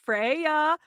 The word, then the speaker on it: Freya: she send it and my name is pronounced Freya oh that's pretty because